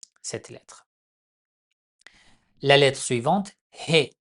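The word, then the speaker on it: ه: La lettre suivante, he, encore he, comme si vous respirez.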